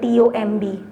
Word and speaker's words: tomb: और same is a case with the word TOMB. TOMB को कैसे प्रोनाउंस करना है?